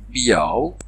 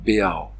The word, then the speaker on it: beau: Au XIIIe siècle, on prononce encore une triphtongue, c'est-à-dire trois voyelles en même temps. Soit biao, soit beao. Les formes étaient concurrentes. Biao était largement majoritaire. Beao, qui finira par s'imposer plus tard, est plutôt parisien.